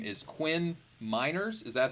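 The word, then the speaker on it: Quinn Meinerz: sure uh here your um your name is quinn miners is that how you pronounce it because sometimes in the draft class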